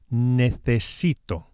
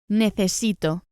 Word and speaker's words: necesito: To say I need in Spanish, it's necesito. Again here, be sure to pronounce the C as an English TH. Necesito. Necesito. As we saw before, speakers of Latin American Spanish will simply use an S.